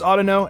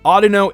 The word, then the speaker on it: Audino: Audino oughta know I didn't know how to pronounce this before I think it's oughta know and I'm I'm making a pun neither Audino is the proper way I think Colburn yeah